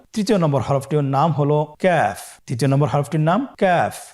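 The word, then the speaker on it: كاف: কাফের মাখরাজ হলো জিহ্বার গোড়া থেকে একটু আগে বাড়িয়ে তার বরাবর উপরে তালের সঙ্গে লাগিয়ে উচ্চারিত হয়। তাহলে আমরা কফ যেখান থেকে উচ্চারণ করেছি একটু আগে বাড়িয়ে সেখান থেকে আমরা তার বরাবর উপরে তালের সঙ্গে লাগিয়ে হরফটি উচ্চারণ করব।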